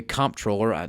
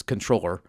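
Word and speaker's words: comptroller: it's the the controller, people want to say comproller, no, it's controller. Bob Bullock made it clear. It's pronounced controller um that they're going to be able to not give money to private Muslim schools.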